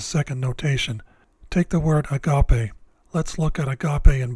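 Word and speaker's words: ἀγάπη: three syllables and that the second syllable should be stressed since the second syllable is capitalized it's the syllable which is stressed when spoken hypothetically speaking if the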